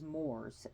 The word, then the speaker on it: Mors: the Dead now in Latin his name is Morse m-o-r-s m-o-r-s not to be confused with Mars